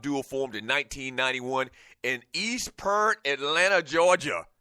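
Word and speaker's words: East Point: formed in 1991 in East parent Atlanta Georgia I did say prent that's how they say it trust me that's how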